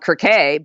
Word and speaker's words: Circe: Circe, the book that I'm reading, the Greeks call it Kirke, but to me it's